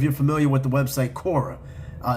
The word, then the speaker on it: Quora: Now, I'm not quite sure if you're familiar with the website Kora. Uh, it's spelled quo r a.